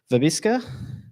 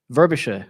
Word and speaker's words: Verbiscer: there we go and anne verbiska verbosher there we go i'll learn eventually but